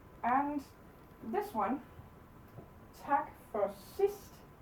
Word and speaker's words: sidst: Okay, and this one, tak for sidst, the D is silent. So tak for sidst.